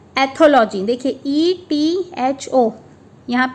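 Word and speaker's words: ethology: सो इसका प्रोनाउंसिएशन होगा एथोलॉजी, मैंने आपको बोल के तो बता दिया है, लेकिन आपको लिख के बताती हूँ मैं। EHA thaw, THAW thaw, LUH लॉजी।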